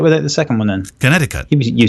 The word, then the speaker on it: Connecticut: So there's 3 C's, but the second one is a silent C. So say it without the second one then. Connecticut.